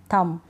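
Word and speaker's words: thumb: डम climb com lamb थम अब ये एम के ऊपर रुक रही है मतलब बी सुनाई देता है लेकिन नहीं ये बी साइलेंट है बी को नहीं पढ़ते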